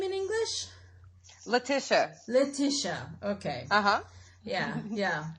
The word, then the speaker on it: Letitia: Letitia. Letitia. Okay. Uh-huh. Yeah. So it's Letitia in French and Letitia. It's close, yeah.